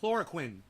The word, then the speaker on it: chloroquine: You know, think of the guy from Dexter. Quinn. Chlorine.